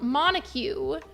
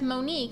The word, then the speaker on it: Monique: filter this cat Builder I it's so it's pronounced Monique but I didn't know that as I never